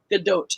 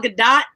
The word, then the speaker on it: Gadot: Gadot, I think is how I heard her say it. But yeah, it's pronounces the T. She's not French.